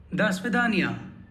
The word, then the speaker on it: до свидания: Next we have До свидания.